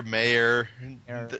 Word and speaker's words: Meyer: say they thinking um I say it as Meer I've heard Meer mayor there's all sorts of weird pronunciations going around but I think it's Meer yeah never can't tell